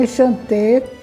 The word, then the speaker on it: enchanté: Então enchanté, terminado em E com acento agudo, é do gênero masculino. E quando é a mulher, ela diz também enchanté, a mesma pronúncia, mas essa pronúncia é